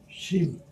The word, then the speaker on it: শিম: চিম বলে না শিম বলে, আমি ঠিক জানি না। চিম না চিম? শিম। শিম।